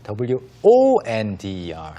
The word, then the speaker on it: wonder: And the pronunciation is a little bit Yeah. different. But in It's basically the same though.